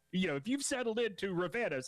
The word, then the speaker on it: Ravanos: Tyler Head, Captain Dave, Ravanos, as I've apparently been mispronouncing it this entire time.